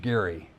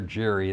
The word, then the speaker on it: Gerry: by the name of Elbridge Gary or Jerry that some people pronounce.